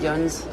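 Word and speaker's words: yinz: This is a way of spelling yins, which is the plural of you. Yeah. It's also often spelled with a Z at the end, which reflects more how it sounds, or sometimes with a U.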